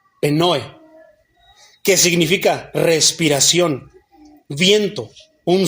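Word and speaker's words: πνοή: Esa palabra viento, mi hermano, del griego, se escribe P de papá, N-O-E, con acento, penoe, que significa respiración, viento, un soplo, aliento.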